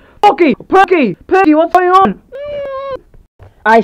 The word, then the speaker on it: Perky: And most of all, you guys always pronounce my name wrong. You call me Porky instead of Perky.